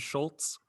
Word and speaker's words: Schultz: Those lawyers are Ducroti and Schultz. That's what that's the lawyers. Schultz is spelled S-C, but without the C. You cross out the C. It's a silent C. And then Oltz.